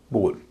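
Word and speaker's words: bowl: बी ओ डब्ल्यू एल बी ओ डब्ल्यू एल में ओ डब्ल्यू बीच में है उच्चारण औ ना होके ओ हो हो रहा है तो इसको याद रखने में आपको दिक्कत नहीं होगी बोल तीसरे नियम के भी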